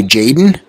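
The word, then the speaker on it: Tjaden: a d n so I'm going to not pronounce the T and say Jaden he's a 66 kicker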